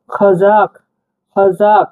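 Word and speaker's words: Қазақ: একটা পাড়া গেছে এক্সট্রা এটাকে আমরা ক উচ্চারণ করব একটু গভীরভাবে ঠিক আছে দেখুন গভীর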